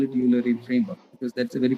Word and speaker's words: Eulerian: I'll call it Eulerian framework because that's a very commonly used pronunciation.